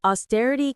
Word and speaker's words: austerity: The stress is on the stir.